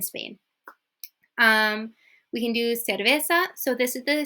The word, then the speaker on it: cerveza: deer siervo okay okay the key to this is if you are doing the the don't overdo it or else it sounds like really fake it's it's light okay it's not like